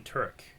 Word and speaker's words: Tudyk: Played by Alan Tudyk. Right? Is that how you say it? Tudyk. Tudyk. Yeah. Tudyk.